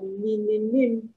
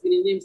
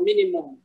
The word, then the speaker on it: Mininim: And then number two, a lot of people mistakenly pronounce Mininim for Minimum.